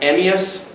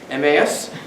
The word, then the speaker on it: Emmaus: Church in Saint John U.S Virgin Islands it's pronounced emias not Mas there was an Emmaus initi Germany of the